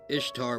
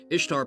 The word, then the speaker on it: Ishtar: Ishtar, pronounced Easter, is a day commemorating